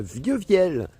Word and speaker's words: Vieux-Viel: dernier on était à Vieux-Viel finalement j'ai eu la vraie prononciation donc c'est encore plus compliqué que ce que je disais ça se dit vieux viel et on y est